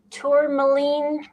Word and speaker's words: tourmaline: I can never pronounce this right. Tourmaline crystal near your computer.